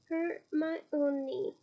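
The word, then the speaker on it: Hermione: to say her name properly kept calling her her my own KNE she said slowly and clearly her only close enough she said cing Harry eyes and Grinny I always preferred hermy it's a little more easier to say the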